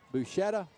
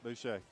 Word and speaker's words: Boucher: Sorry. Boucher. I purposely learned the pronunciation for that, and then he got